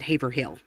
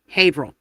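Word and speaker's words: Haverhill: Most people pronounce it Haver Hill.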